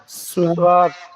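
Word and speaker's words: صاد: প্রথমে একটা গোলের মতো দিয়ে তারপর এরকম দেওয়া, এটার নাম হচ্ছে সোয়াদ। এটার নাম সোয়াদ সোয়াদ। সোয়াদ সোয়াদ সোয়াদ সোয়াদ সোয়াদ সোয়াদ।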